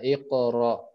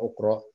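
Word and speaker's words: اقرأ: Kenapa enggak baca akro ukro? Jadi iqra.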